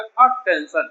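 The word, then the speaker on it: attention: जैसे क्या हो जाएगा अटेंशन, इसको अपन लिख के देखिए क्या हो जाएगा अटेंशन।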